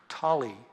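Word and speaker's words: Tolle: his name is pronounced Tolly he said it rhymes with trolley that's what they told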